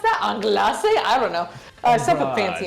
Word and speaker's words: anglaise: I'm thinking, so it wants a cinnamon cream anglaise, I think is how you pronounce that. Anglaise?